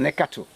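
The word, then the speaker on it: Nicator: How does a western wicketer sound? Western neckato. Oh, it's a neckator. Yeah, this one is wicketer. Oh, wait, spelled wrongly then.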